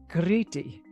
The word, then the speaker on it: Crete: talk about crete awesome in greek it's pronounced gritty ooh fancy yeah it's the